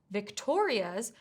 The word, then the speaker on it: Victoria's: than one syllable, like the word Victoria's, where the stress needs to be on the second syllable.